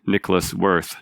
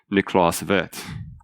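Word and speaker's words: Niklaus Wirth: say you can call me by my name vets or call my but by my value worth which is what most Americans call him Nikolas worth not niklas vet and so he had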